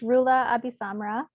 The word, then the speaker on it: Roula AbiSamra: It's Roula AbiSamra.